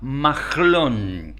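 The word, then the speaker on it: Mahlon: bien su primer hijo se llamaba maglon así lo pronuncian los judíos eh significa algo así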